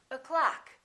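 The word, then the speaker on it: o'clock: now in this case the first syllable is reduced the second syllable is stressed so this one disappears and becomes this uh sound uh so we say o clock we don't say o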